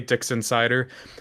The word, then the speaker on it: Dixon Cider: like particularly Dixon Insider, which audibly sounds like I am saying something very graphic, but let me tell you, it is spelled D I X O N space C I D E R.